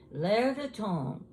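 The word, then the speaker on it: L'Air du Temps: L'air de temps. Now, it's French, and it's spelled different than what it sounds.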